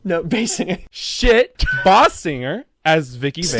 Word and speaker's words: Basinger: Kim Basinger. Did I pronounce that right? No, Basinger.